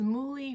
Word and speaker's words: muhly: It says muhly rhymes with truly.